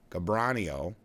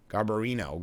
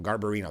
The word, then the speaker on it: Garbarino: And GOP Representative Andrew Gabbranio, Gar I I'm not pronouncing that right. Garbarino, Garbarino, that's what it is, of New York and